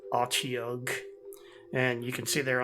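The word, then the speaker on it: Otyugh: And I don't know how other people pronounce it. I pronounce it Ochiog.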